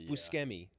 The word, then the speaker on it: Buscemi: It's Buscemi, like bruschetta.